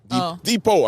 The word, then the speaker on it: depot: on 63rd Depot Depot Depot I mean in my in my anger I pronounced the T and then deot Depot